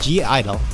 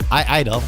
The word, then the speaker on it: (G)I-DLE: sohyeon in minion of G Idol or I idol or Harvey so it said in Korean I know the G is silent ie they yeah there